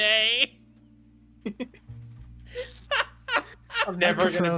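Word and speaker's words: Moné: Who is Mercedes Moan? Because that is. To be fair, it's pronounced. Monet.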